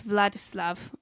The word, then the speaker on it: Vladislav: So it's Vladislav. I said it wrong.